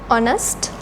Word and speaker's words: honest: have to write and effort number two blank honest person here as I told you earlier this H is silent in this world so we have to